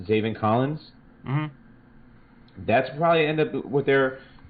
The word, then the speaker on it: Zaven Collins: But if they're valuing or they're looking for need at linebacker, best available, you got it's pronounced Zaven Collins.